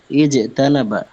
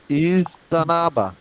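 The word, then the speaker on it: اجتنب: আরে আরে ডাক্তার সাহেব, জি ইজ জিম পড়েন, জিম। ইজ তানাবা, ইস ইস্তানাবা। সিন নয়, জিম।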